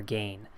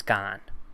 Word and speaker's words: Gane: if it's gone or gain he doesn't care but I think it's gone that's how I pronounce it Cyril gone not serial gain Jon Jones taking on